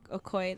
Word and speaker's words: Okoye: Okoye, that's how you say it. Okoye? Okoye, yeah.